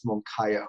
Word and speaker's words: Moncayo: And that's CAYO, not, like I've got it written out phonetically in my show notes here. I know. Many people say Moncayo, so no big deal. It's Moncayo.